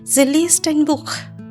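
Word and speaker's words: Buch: এক তরুণী বসেছিল বুক সে একটি বই পড়ছিল এখানে বই পড়ছে এখানে আবার দেখেন সে এবং হা আছে এবং এটার উচ্চারণ খ এর মত হয়েছে জোর দেয়া খ এর মতন কেন কারণ তার আগে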